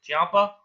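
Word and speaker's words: Ciampa: do you say the guy's last name tomaso Champa Champa Champa okay is that feud over no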